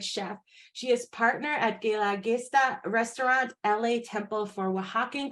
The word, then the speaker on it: Guelaguetza: I know I have the most difficult name, number one, Bricia, to pronounce, and then my restaurant's name is Guelaguetza. No one knows how to pronounce that too.